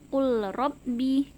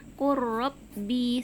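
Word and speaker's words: قُلْ رَبِّ: Jadi cara membacanya bukan qul rabbi, tapi huruf lamnya langsung diidghamkan atau dimasukkan ke huruf ro-nya. Qurrabbi, seperti itu ya.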